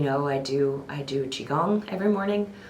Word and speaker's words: Qigong: You know, I do I do qigong every morning. It's Can you say that again? Qigong. Can you spell that?